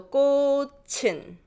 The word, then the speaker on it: 꽃은: But when it's followed by 은, which has iung that doesn't have its own sound, then we just pronounce this because you're releasing it. So 꽃은, 꽃은, 예뻐요. So this is 꽃은 예뻐요. That's how this is pronounced.